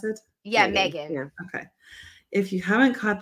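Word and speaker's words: M3GAN: with the killer doll is that how you pronounce it yeah Megan okay if you haven't caught that one prime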